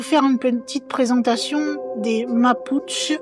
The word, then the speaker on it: Mapuche: une petite présentation des mapuchch ou mapuchche excusez-moi de la prononciation j'ai plutôt à vouloir prononcer à l'espagnol qu'on se trouve en Chili Argentine et bien sachez que elle